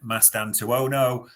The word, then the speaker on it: Mastantuono: And we've talked, and I'm probably going to pronounce it wrong again, Mastantuono. So some real talents finally got it right for the 5th time of asking.